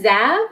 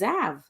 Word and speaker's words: Zav: cdt and is it zab or is it zabe it's zav zapro oh my god